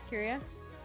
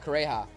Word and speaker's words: Kureha: I forgot how to pronounce her name. Curia? Huh? The old Katakuri? No, the old lady. The doctor lady. Oh, Kureha.